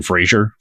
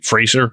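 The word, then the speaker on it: Brendan Fraser: rallies behind matthew lillard like they do brendan frazier fraser apparently um is how you say it's not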